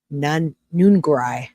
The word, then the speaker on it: Nungaray: Yeah, Alexis Nungaray, or Nungaray, however you say it. Nungaray. How do you say that? Nungaray is what they say.